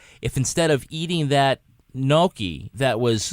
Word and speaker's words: gnocchi: instead of eating that gnocchi that was... None of you can pronounce that. It's hilarious to me. I call it gnocchi. You're all wrong.